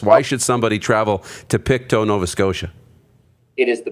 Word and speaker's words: Pictou: Yeah, you're from Pictou, Nova Scotia, right?